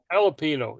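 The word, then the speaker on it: jalapeño: is silent there Jerry the Jay in jalapeno is silent a Yello no it's not jalapeno yeah it's an H jalapeno yeah it's like you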